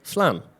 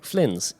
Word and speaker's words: Flins: So, they have had a factory outside Paris in a place called Flan. Or Flins, if you would like to butcher the French language, Monsieur Englishman.